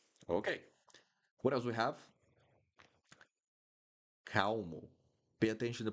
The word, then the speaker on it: calmo: Calmo. Pay attention to the pronunciation here, guys. The L in the middle of the word. Calmo. Calmo. Calmo. So the L will sound like ooh.